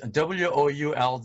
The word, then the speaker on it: would: say no so this w o u ld is pronounced as what very short would i remember pronouncing this word incorrectly as would instead of would i made the same